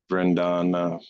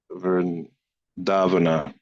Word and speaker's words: Vrindavana: Similarly, Krishna, the original Vishnu, by expansion of his internal potency, created the inhabitants of Vrindana. How do you say that? Vrindavana.